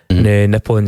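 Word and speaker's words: Nippon: call it X nipon nipon is apparently the formal pronunciation of Japan in the native tongue M so there you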